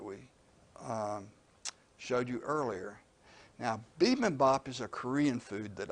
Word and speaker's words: bibimbap: And usually it's just written as one word, but I put the hyphens in, bibimbap, so you could see more easily how to say it.